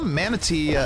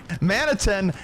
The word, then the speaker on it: maniton: and this is inter we saw manate God now you got me doing it I said it right that time maniton we saw him uh